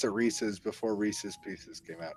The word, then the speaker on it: Reese's: It has to rhyme with pieces, so Reese's Pieces.